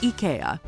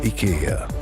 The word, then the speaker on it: IKEA: debunk the pronunciation puzzle Ikea is not an Ikea or Ikea Affair drum roll please it's a simple and Charming Ika Silence the Critics Ika the wonderful everyday imagine